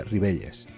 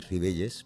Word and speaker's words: Ribelles: yo soy y ribelles pero rivelles podría ser mi bella final que se pronunciaría parecieron y la ll es como la calle normal castellana en castellano que aquí en asturias